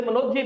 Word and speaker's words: मनोज्ञ: 31 में चलते हैं, मनोज और मनोज्ञ, ये वैसे मनोज्ञ भी कहा जाता है क्योंकि गे का जो उच्चारण है वो जय के रूप में होता है।